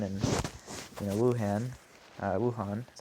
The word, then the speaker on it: Wuhan: problem going on in you know Wuhan uh Wuhan is how you pronounce it Wuhan that's where that's where it originated right you